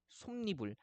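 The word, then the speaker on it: 솜이불: 그래서 솜 더하기 이불 했을 때는 솜니불, 한 더하기 여름 했을 때는 한여름이 아니라 한여름 이렇게 발음하게 되는 거죠.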